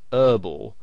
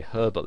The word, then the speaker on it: herbal: Now, in American English, the word herbal has the H silent, so they pronounce it herbal.